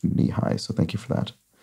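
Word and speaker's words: Nehi: previously so I think the first few times I pronounced it on this series I called it neki I think but it was it was confirmed to me it wasn't it should be pronounced knee-high so thank you for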